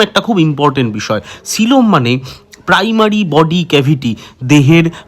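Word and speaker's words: coelom: তাহলে এই উন্নত প্রাণী দেহে পাওয়া যাওয়া সেই গভর যার মধ্যে দেহে সমস্ত ইম্পর্টেন্ট অঙ্গগুলো থাকে তাকে বলা হয় সিলম। ইংলিশে বানানটা লিখলে বানানটা হবে সি ওই এল ও এম।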